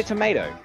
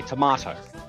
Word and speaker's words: tomato: land on YouTube okay the Americans say tomato yes the British and the colonies say tomahto do they really [